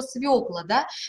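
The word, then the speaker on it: свёкла: имеют ударение на окончание фёкла любит свеклу как у нашей марфы есть полоску шарфы можно и так обыграть русло слова свекла если бы мы конечно графически прописывали вот эту букву ё всегда его про печатали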